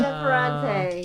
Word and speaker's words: Ferrante: If you give up, it is a book called, and someone else helped me on the author pronunciation, but it's called My Brilliant Friend by Ferrante. Ferrante, yes.